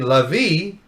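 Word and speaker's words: לוי: It was rhyming Lavi with Navi. Navi has what we call a vet or a soft bet, clearly a v sound. So it's va Lavi, Navi.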